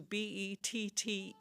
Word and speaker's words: Bette: Well, as she grew older, she thought that was a little boring, so she changed the spelling to Bette, pronounced Betty still.